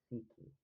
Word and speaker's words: psyche: The word psychic comes from the Greek psyche, pronounced psyche, meaning soul or spirit.